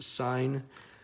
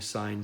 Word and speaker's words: sine: said although this is marked sin it is pronounced to sign so I want to mention the biggest sin that you'll create in this section is calling sine sin alright so hopefully you guys enjoyed my